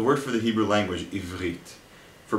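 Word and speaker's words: עברית: The resh is like gargling water. It's like making the ch sound while sounding your voice. Listen and repeat. Ivrit.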